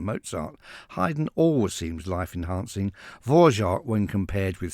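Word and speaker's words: Dvořák: 19th century classical composers, Antonin Dvorak, or possibly Dvorak, but definitely not Vrindjak, as Peter Sellers once pronounced his name. Dvorak we'll stick with.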